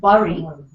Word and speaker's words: bury: is b r y it should sound like bury but let's bury this